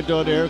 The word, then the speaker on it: Donaire: Pronouncing his name differently, but we go by Donaire because that's the way he pronounces it.